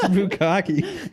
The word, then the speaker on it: bukkake: For double consonants in Japanese words, you pronounce it at the end of the syllable, then completely cut the air off and pronounce it.